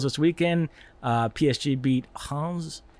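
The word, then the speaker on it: Reims: weekend uh psg beat hans in uh messi's debut that is how you pronounce it yeah it's the it's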